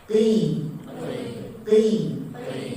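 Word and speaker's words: قِ: Qaf dia tempatnya di pangkal lisan pas dengan anak tekak. Tembak langsung ke atas. Anak tekak kita langsung kita arahkan ke anak tekak. Qi. Jangan sampai qi terpental, enggak ada. Qi. Itu dia.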